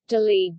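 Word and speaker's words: दिल्ली: Delhi, Hindi pronunciation, Dili Dili, Punjabi pronunciation, Dili Dili, Urdu pronunciation, Dri Delhi, officially the National Capital Territory of Delhi, NCT,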